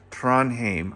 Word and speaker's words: Trondheim: Trondheim, I believe, is how you pronounce it.